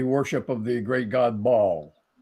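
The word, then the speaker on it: Baal: of the great God ball some people pronounce it Bell because it's b-a-a-l but if he got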